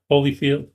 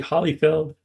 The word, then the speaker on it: Hollyfeld: But yes, Leslie Holyfield. I knew I was going to say it wrong. Leslie Hollyfeld is an engineer.